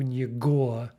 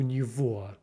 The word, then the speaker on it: него: Remember that v pronunciation. It's not у него, it's у него.